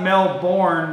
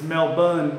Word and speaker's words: Melbourne: hey from Australia so I was told it's not male born because that's how it's spelled you know like for Angus spelled for rank but it's Melbourne Melbourne Melbourne is that